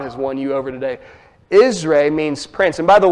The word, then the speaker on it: Israel: It's pronounced Israel, that's a long A, and then L with a short E.